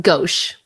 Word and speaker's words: gauche: Okay, I will say I also never heard that word before, but it's pronounced gauche.